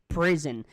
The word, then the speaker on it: prison: the word prison, and you can see the small mark right there. This is the stress of the word. So you can say prison. You cannot say, for example, prison. So it's only on the first syllable here.